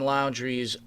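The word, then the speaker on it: Laundrie: it's first of all i pronounce his last name laundry as in dirty laundry because he's got plenty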